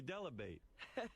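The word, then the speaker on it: Dell'Abate: Gary Delabate rhymes with debate by Sher.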